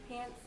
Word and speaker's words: Hansen: So the real way to say it is Ava Lolita Hansen. Oh, okay. Hansen is Danish, so you have to specifically say it that way.